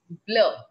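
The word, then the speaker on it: bleu: color blue is called b l e u blur instead of u e it's eu blur white color is long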